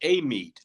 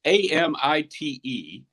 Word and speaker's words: Amite: How do we pronounce it? Apparently, they call it Amite, which, it's Amite, which I would never think Amite, but Louisiana is weird in that way.